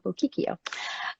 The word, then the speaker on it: Bocchicchio: Strange name, so I know a lot of people don't know how to pronounce it, but that's how you pronounce it, Charla Bocchicchio.